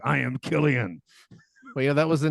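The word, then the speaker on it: Cillian: uh is what is San is Scottish San Killian Murphy it's I said it right I said it right then wrong okay there we go it's Killian Killian that sounds too violent that's like a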